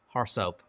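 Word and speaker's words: RSoP: policy we often compare an AR SOP report pronounced horse up to what you expect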